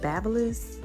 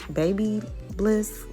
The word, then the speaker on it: BaByliss: the curling iron that i'm using is called babyliss baby bliss one two i know it's spelled b-a-b-l-i-s-s those are the curlers of the